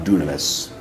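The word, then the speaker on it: δύναμις: Looks like dynamis, but it's actually pronounced dunamis.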